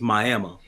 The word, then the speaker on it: Miami: and it's called Miami even though it's spelled like Miami it's my ammo yeah I mean like